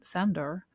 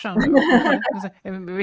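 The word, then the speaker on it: Sándor: Am I pronouncing I mean I think it's Shandor. I tried to I tried to pronounce his first name in a in the Hungarian way and I never got it right. The gy eluded me.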